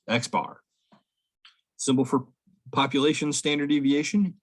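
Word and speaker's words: x̄: mean is x with a bar over it pronounced x bar symbol for population standard deviation is a sigma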